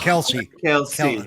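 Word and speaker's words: Kelce: The problem is it's because it's all because that guy Kleck is taking Taylor Swift off the market. That's why everyone's getting laid off. Kelsey. Kelsey. Pronounce his name properly.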